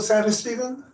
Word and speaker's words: Santistevan: Hello, as Santos-Stephen? Hello. Right, yeah, you are like one of the first people to ever pronounce that correctly on the first try.